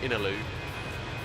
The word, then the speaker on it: Innaloo: real eye-opener also have a suburb called innaloo and it's said exactly it says no where'd you live Italy oh